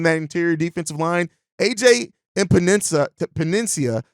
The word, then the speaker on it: Epenesa: AJ Epenesa, I believe is how you pronounce it, from the Buffalo Bills, is a defensive end, 25 years old, 6'6", 260 pounds.